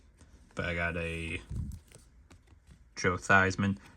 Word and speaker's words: Theismann: But I got a Joe Theismann. It's actually pronounced Theismann, but Theismann because it rhymed with Heisman.